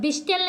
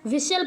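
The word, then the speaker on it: whistle: होता है है ना अब विस्टल नहीं होता है विसल पढ़ते हैं विसल मीन सीटी होता है तो यहां टी साइलेंट होता है क्या हो जाता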